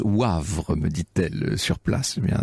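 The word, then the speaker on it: Woëvre: Laurence me fait amicalement observer que dans la Meuse, la Veuvre, ça se prononce Wavre, me dit-elle sur place.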